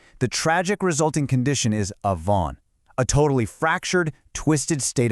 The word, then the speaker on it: avon: And finally, that deliberate rebellion results in avon, pronounced avon.